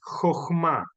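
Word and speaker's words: Jojmá: la otra que es jma eh dice chma porque está tomado de la grafía inglesa pero nosotros pronunciamos con con j Entonces ya ahí vemos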